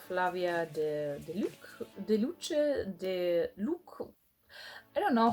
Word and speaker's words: Flavia de Luce: I always pronounce it Flavia de Luc, and it would drive my mother insane because she pronounced it Flavia de Luce.